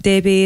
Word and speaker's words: Debay: under the name of debbie but debbie is spelled d-e-b-a-y which confuses lots of people it's not debate americans tentacle or english call me